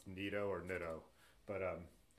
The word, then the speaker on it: Nitto: It's pronounced Nitto, Ben says.